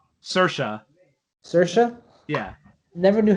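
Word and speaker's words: Saoirse: circa ronan how do you say her name sercia sercia yeah never knew how to say it she explained in interviews it's just she says inertia but with an ass so just sercia oh teresha gotcha okay yes cool all right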